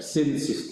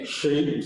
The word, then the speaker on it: shrimp: Because for some people they sound like Sins. Oh. So I understand because in Indonesia the SH sometimes is H is not not pronounced very clearly, right? So it sounds like S alone. So you want to amplify the H.